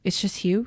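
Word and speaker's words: Hugues: about her friend, maybe you can help me pronounce this, Hugh. Hugs. Hubosi. Mhm. Hugh. It's just Hugh. Yeah. Huge. Yeah, it's Hugh.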